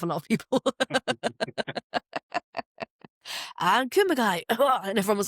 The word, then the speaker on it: Kumagai: Kumagai was a mix of, hang on, I've wrote them down phonetically. Kumagi. Oh, nice. Kumagai. Like very overpronounced. And then I think once they said Kumagai, which was quite nice.